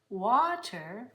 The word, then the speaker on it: water: This hot water, it's spelled with an A, but it's the same sound.